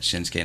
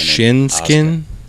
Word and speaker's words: Shinsuke: Shinsuke. Shinsuke. Oh. Even though it's spelled Shinsuke, it's Shinsuke. Just like Asuka, it's spelled Asuki or Asuka, but it's Asuka.